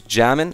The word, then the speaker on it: xJamin: episode of Cobble Road my name is jamond as always that is spelled with a silent X oh can I make